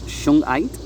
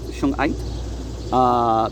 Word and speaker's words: shungite: I always want to say Suge Knight like the rapper. It's shungite, I believe, shungite beads, and those are the darker beads there.